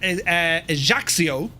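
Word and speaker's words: Ajaccio: Currently on the ground here at Haxio, that's how you pronounce it, friends. Ejaxio.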